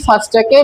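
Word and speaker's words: first: এটার উচ্চারণ প্রায় কাছাকাছি, কিন্তু একটু পার্থক্য আছে। এই উচ্চারণের ক্ষেত্রে রেফ আছে, কিন্তু এটার উচ্চারণে কোনো রেফ নাই।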